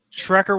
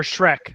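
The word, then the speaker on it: Schreck: two more to go shreer was not on our list or Shrek excuse me oh nice his name's Shrek it's spelled s c HR c k but that way I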